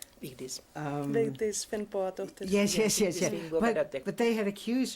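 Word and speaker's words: Vigdís Finnbogadóttir: So tell us what, I can't pronounce her name. Vigdis. Vigdis Finnbogadóttir.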